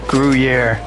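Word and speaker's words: Gruyère: The cheese is pronounced gruier.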